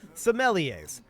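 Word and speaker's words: sommeliers: my location perfect okay let's get the pronunciation some leas well there you go semeliers fantastic that that makes sense it does look vaguely French as outstanding when people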